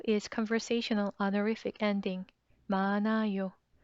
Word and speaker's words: 많아요: 많아요. Please note here is silent, so ni은 sounds floats into the empty 이응 place to make sound.